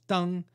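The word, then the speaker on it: 灯: If they wrote the word for lanterns, also pronounced deng, they'd be punished for breaking the taboo.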